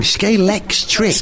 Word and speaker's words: Scalextric: You're saying it wrong. Scalextric. Scalextric, right. Yeah.